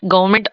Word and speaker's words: government: Government again, like I told you about that environment.